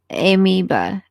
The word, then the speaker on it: amoeba: Just FYI, it's pronounced amoeba.